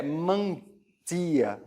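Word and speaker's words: μαντεία: Em grego, nós temos aqui a escrita em grego, a pronúncia é mandia, né?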